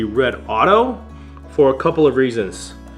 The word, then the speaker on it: Redodo: the company red Auto I've heard it pronounced rodoto redo but I don't know for sure but I believe it should be red Auto for a couple of